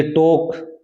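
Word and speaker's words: talk: L silent है ये टॉक मैंने बताया था इसमें एल साइलेंट है टॉक वक ए के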